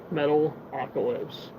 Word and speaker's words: Metalocalypse: Metalocalypse. That's how you say it. Say metal, you say oc, then you say ellipse.